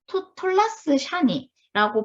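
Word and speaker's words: תולעת שני: 톨라스 샤니라고 발음을 하는데요.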